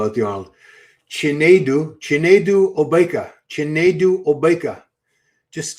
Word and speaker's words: Chinedu: Chinedu Obeka. Chinedu Obeka. Just say Chinedu.